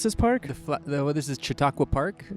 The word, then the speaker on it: Chautauqua: Boulder Colorado what is the how do you pronounce this park well this is chatauqua Park Chautauqua right at the base of the Flatirons this